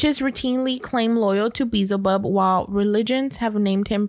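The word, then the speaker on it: Beelzebub: and the element of water next one is bezel bub bezel bub b-e-e-l z-e-b-u-b yeah is that how you say it yeah bizaba bezel bub is chief of staff of hell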